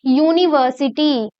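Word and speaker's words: university: यूनिवर्सिटी, यू, य sound निकल रहा है, तो क्या य एक वाउल साउंड है, क्या ये एक वॉवल साउंड है?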